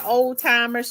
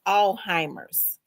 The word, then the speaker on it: Alzheimer's: I said, "Oldtimer." She said, "No, it's not old-timers. It's Alzheimer's with And you don't say the Z." I said, "All allhe?" She saidheimer. The Z is silent.